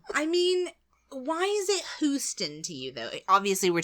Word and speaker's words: Houston: Houston.